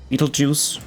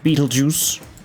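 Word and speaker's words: Betelgeuse: time to realize that Beetlejuice is spelled weird and refers to the star cluster or the the the space thing. Beetlejuice, you know, like the B E T E L G E U S E.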